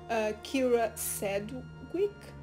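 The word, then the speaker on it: Kyra Sedgwick: so the movie stars bill skarsgård Michael Monroe Kiera said quick that's how you say her name in Jeffrey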